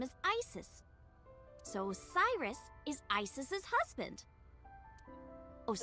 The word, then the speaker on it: Isis: About A set. Horus's mom is named bet. Isis. But in ancient Egyptian, it's pronounced closer to Ise or Aset.